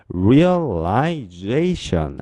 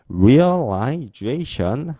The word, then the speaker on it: realization: 그래서 앞에 있는 R-E-A-L real 이 단어를 살짝 발음해 주시고 뒤에 realization G-A-T-I-O-N 이 단어를 좀 더 세게 발음해 주세요. 그래서 realization 한 번 더 실현하다 실현 realization 한 번 더 실현하다 실현 realization 그렇습니다.